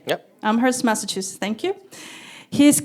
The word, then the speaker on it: Amherst: health in nutrition at the University of Massachusetts Amhurst. Did I say it right? Yep. Amherst, Massachusetts.